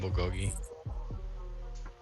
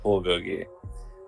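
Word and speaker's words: 불고기: Can I still call it bulgogi? Well, I'm not going to say that's incorrect, but the common pronunciation is bulgogi.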